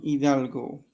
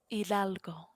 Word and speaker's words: Hidalgo: I born in Hidalgo.